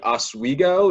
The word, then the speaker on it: Oswego: college you went to suny oswego is that how you pronounce that that's it yeah that's perfect you know how i